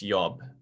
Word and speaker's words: Job: job if i said job in german that's yob you know job job j sounds different okay